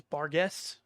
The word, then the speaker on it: Barghest: uh that's that's cool the official D and D pronunciation of it is bargz I have a hard time just calling it bargz yeah but any of